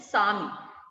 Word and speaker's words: सामी: और उसके बाद है चेयम, उसको भी कई बार गड़बड़ हो जाती है, तो देवयम चेयम पज्जुआ सामी, यहां पर भी स्वामी नहीं है, सामी, पज्जुआ सामी।